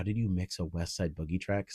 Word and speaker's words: Westside Boogie: West Westside Bougj. Is that how you say his name? Westside Boogie. Boogie. Yeah, Westside Boogie.